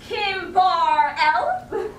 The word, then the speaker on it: Kimberly: It's pronounced Kim Bar L. No E. The E is silent.